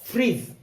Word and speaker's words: fridge: अगला है FRIDGE, ये बन गया फ्रीज।